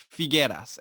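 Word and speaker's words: Figuera: once again for the that would be forget us and that is spelled F I GU er a yes we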